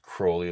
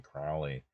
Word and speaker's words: Crowley: Um, no, I know you've you've touched you've talked about Crowley in the past and it is pronounced Crowley like as in holy Crowley or Holy Moly Crowley.